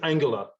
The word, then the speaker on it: Angela: So Angela Merkel, which I have on really excellent advice from a work friend who is German. Okay. Is Angela.